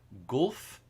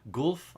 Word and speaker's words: Guelph: ontario pirate festival and i'm going to pronounce this wrong golf ontario i think golf ontario g-u-e-l-p-h um one weekend only